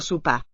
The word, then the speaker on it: sopar: La dona prepara el sopar. El sopar. This Sopar. O seems to raise to an U. La dona prepara el sopar. Sopar. And there's also a tonal upstep there. That's the accented syllable here.